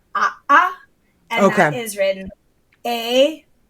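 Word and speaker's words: ʻaʻā: called a glottal stop, which is if you have 2 vowels next to each other and they're meant to be pronounced separately. For example, the pokey kind of lava is called a'a, and that is written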